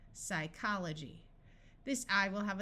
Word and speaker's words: psychology: a city in Alaska PS says s psychology note that the Y at the end of a syllable has a long I sound and this G takes on the J sound because of the Y psychology this I will